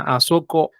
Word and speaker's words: asoko: las demás bien entonces La tercera palabra a Soco es baja alta a Soco Y qué